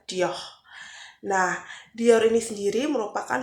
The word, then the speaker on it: Dior: merupakan brand Dior atau dalam bahasa Prancisnya pronunciation-nya disebut dengan Dior.